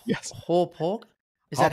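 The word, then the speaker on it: Hauppauge: I think I'm pronouncing this right. Yes. Hawpaw. Is that how you pronounce it? Hawpaw.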